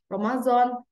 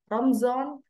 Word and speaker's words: Ramadan: So Ramadan also spelled like Ramazan, Ramzan, Ramadan, and Ramadan. So in Indonesia, we call it as Ramadan.